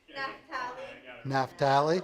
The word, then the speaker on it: Naphtali: D, Naphtali. Oh, this is Tommy. Sage, how do you pronounce D? Naphtali. Naphtali? Okay. I mean, it's kind of what it looks like, right?